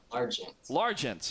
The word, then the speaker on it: Largent: no excuse me Alex Largent how did I pronounce that right how do you pronounce your last name sir Largent okay just as it's spelled also known as a